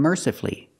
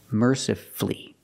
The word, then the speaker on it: mercifully: We also practice with these words, powerfully and mercifully. Again, you have two syllables before F-U-L-L-Y, and the stress is on the first syllable, so the U is silent.